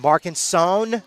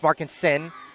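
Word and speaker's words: Markensohn: be confused by uh definitely Markinson who which is spelled M A R K E N S O H N. Uh again, Markinson, Markinson, it's Markin Sin.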